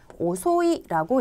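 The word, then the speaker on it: 遅い: 오꾸레루라고 하는 훈독 말고 이형용사로 쓰게 되면 오소이라고 읽히는 이형용사도 있습니다.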